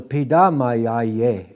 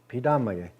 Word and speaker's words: Pidamayaye: Pidamaye is somebody made me thankful. Pidamaye. Well, who made you thankful? And for what? Pidamaye. Somebody did, but not this person that I'm talking to. So Pidamayaye is the correct way to say thank you very much.